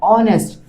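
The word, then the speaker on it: honest: वो साइलेंट है। एच क्या है? साइलेंट है। तो क्या आ रहा है? ऑनेस्ट।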